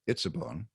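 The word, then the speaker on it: עצבון: Well, the first of the two nouns in word group number 2, and that's pronounced itzabon, refers proleptically to the itzabon of verse 17.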